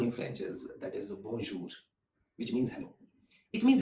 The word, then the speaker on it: bonjour: Another way to greet someone is, and very common in French, is that is bonjour, which means hello.